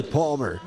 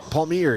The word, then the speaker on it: Palmier: round up the lineup, it is Kenny Palmer. Palmier, excuse me. I apologize for the mispronunciation.